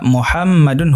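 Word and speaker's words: مُحَمَّدٌ: Muhammad ditulis sebagai mim, ha, mim, dal. H. Tapi dari segi pengucapan, mim setelah ha digandakan ya. Tashdid. Tashdid. Kemudian setelah dal, ada nun sukun yang diucapkan oleh tanwin.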